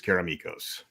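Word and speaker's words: Karameikos: can people pronounce caromicos caramacos caramicos uh according according to my artist who is greek it is karamikos yeah that is a greek name and that is how a greek name would be pronounced yeah and uh but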